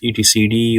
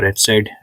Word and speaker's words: etcd: of your resources is actually saved, called as etcd or etcd, depending upon how you pronounce it.